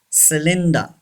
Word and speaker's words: cylinder: number four cylinder yes y gives the sound of e c linda r is not pronounced r should be silent cylinder say this word cylinder